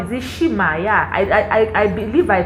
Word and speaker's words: Nshima: delicacy of Zambia that is called, is it Nshima? Yeah, I believe I pronounced it well.